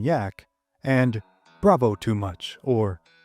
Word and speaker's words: Jack: begrudgingly respectful nicknames of Captain Jack, pronounced Captain Yak, and Bravo too much or brave too much.